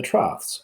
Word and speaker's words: trough: of the waves the troughs I know that's a weird way to pronounce that but that's trough that is the bottom